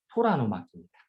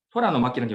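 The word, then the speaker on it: 虎の巻: 근데 이게 호랑이의 두루마리인데 발음이 토라노마키입니다. 토라노마키. 토라노마키라는 경우는 토라의 두루마리라는 얘기예요.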